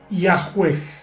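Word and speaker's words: Yahweh: Los eruditos modernos conjeturan que originalmente se pronunciaba Yahwe.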